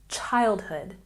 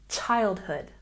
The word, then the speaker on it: childhood: Here we have childhood with a stress on the first syllable. And remember to make the ch sound ch. Childhood, childhood.